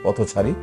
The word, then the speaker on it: পথচারী: এই পথের সাথে, এই থয়ের সাথে একটি অ আছে, এই অটা ও এর মতো উচ্চারণ হয় পথচারী।